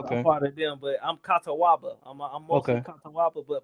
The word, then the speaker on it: Catawba: So breaking it, when you say Catawba, how do you pronounce it? CATAWBA, like Catawba. CATA, Okay. yeah, CATAWBA.